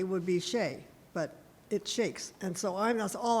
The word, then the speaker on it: Chaix: disclaimer but a claimer my family is always pronounced c-h-a-i-x as shakes however the family of